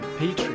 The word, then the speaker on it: Petrie: Petrie, yeah.